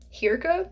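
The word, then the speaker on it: Hirka: because our main character Hira is how I pronounce it h i r k a not sure if that's the actual pronunciation cuz I don't speak Norwegian but that's what it looks like to me she is a Healer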